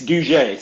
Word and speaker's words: Douget: It's Douget. So Haitian American, so the French influence.